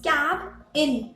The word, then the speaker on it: cabin: केबिन। बोले boss ने केबिन में बुलाया है, बट वो केबिन नहीं होता है, इट्स कैब इन।